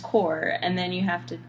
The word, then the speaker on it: Corps: it's confusing cuz like it's spelled with like an S but then it's just core and then you have